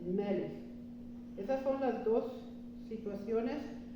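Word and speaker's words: מלך: Lleva acento en la primera sílaba y aquí tiene una kaf final. Cuando el Sheva está debajo de la kaf final, tampoco se pronuncia el Sheva. No se dice meleje, se dice melech.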